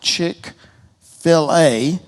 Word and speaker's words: Chick-fil-A: it had this idea why don't we call it chick fillet as in filet mignon and deboned chicken breasts